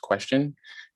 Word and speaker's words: QSTN: presenting to you guys qstn which is pronounced question and it's a blockchain